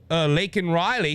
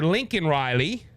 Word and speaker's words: Laken Riley: It led to him mispronouncing Laken Riley. He called her Lincoln Riley.